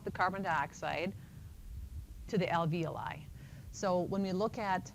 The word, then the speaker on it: alveoli: we're down in the alveoli that's how you pronounce that alveoli and those are the tiny little air sacs